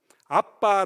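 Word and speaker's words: Abba: 영어 로 A-B-B-A 라고 쓰면 더 강하게 발음 되기 때문 에 " 아바 " 라고 하는 것 이 더 정확 합니다 .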